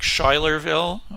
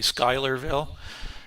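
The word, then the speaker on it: Schuylerville: sure of the pronunciation, but I believe it's Skylerville, but it's spelled with a c s at the beginning of it, which looks like Shylerville or something like that, but it's pronounced locally Skylerville.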